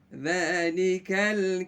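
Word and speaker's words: ذلك: Huruf dzal, dzalika, ujung lidah kita. Ini ada di bawah sini. Gigi.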